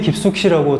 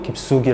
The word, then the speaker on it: 깊숙이: 붙죠 깊숙이 이렇게 요 흔히 깊숙히 라고 잘못 알고 있는 학생도 있는데 실제로 깊숙이 감았고 발음도 깊숙이 라고 해야 됩니다 이런 예시 들은 좀